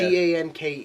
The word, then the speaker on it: Ganke: Ganke is how you pronounce his name. I I know like Gunke.